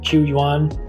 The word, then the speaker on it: Qu Yuan: how to pronounce it it's spelled qu y-you am so I'm saying qu yuan according to this story